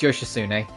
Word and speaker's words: Yoshitsune: It's spelled Yoshitsun, but it's Yoshitsune.